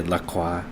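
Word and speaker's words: La Croix: I thought it was Lacroy. I think that's probably the right way. I don't know why. I I like to say laqua because I'm pretentious probably, but uh it sounds about right.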